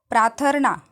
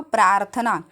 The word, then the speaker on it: प्रार्थना: वह संबंधी अशुद्धियां देखिए तो प्राथर्ना इसका उच्चारण क्या हो गया प्राथर्ना रॉकी बाद का उच्चारण मगर इसका शुद्ध रूप से प्रार्थना रॉकी का उच्चारण अगर